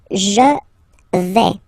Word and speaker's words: je vais: The first form is je vais. Okay, so remember, final S not pronounced here.